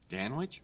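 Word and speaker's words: Danwich: surprised you remember me Dan Wich are you kidding me rhymes with Manwich and man witches are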